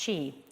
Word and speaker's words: QI: The second is what's called quantum impact, or QI, pronounced chi, as in life force, a chi currency, an alternative, ubiquitous alt currency that will focus on women, realizing across the Sustainable Development Goals.